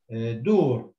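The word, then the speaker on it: دور: Sometimes it is like let's say a word like dur, okay, dur, which means houses. It's written like dal and then a wow and then a ra. And in this word dur, you don't hear wa.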